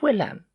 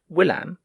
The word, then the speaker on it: William: Finally, he defeated the unlucky Charles, with the aid of William, which the curé pronounced Willam, the conqueror, which is why so many English still come to visit the place.